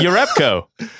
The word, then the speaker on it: Jerebko: stir up co but everybody calls the Jonas Jerebko so what I get knocked for saying you know Jonas 1,000% for real yeah it's your up Co I like it stickler but to be fair